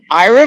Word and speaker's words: Aira: Ira Vision Sim is an awesome app. So Ira is spelled AIRA.